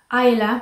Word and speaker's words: Isla: Il y a Ayla, mais qui est écrit Isla. Pour nous on prononcerait ça Isla, mais là il le prononce Ayla. C'est Scottish, je crois, écossais.